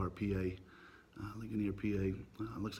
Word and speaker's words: Ligonier: I believe it's pronounced Ligonier, PA. Ligonier, PA.